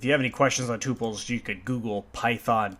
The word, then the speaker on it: tuple: have any questions on tuples you could Google Python tuples and it's spelled tuple like that or tuple is another way of how it's pronounced so if you have